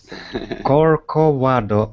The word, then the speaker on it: Corcovado: Corcovado. Okay, okay. Thank you very much. Perfect. I am pronouncing by my Spanish.